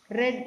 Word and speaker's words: read: And in past participle, read in spelling, but pronunciation is red, like color red.